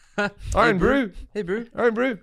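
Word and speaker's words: Irn-Bru: in new zealand and it's pronounced iron bro but there iron brew hey brew oh brew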